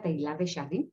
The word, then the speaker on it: Teilhard de Chardin: con Teilhard de Chardin, se pronuncia Teilhard de Chardin, lo había dicho mal, yo me derrito, ¿sí?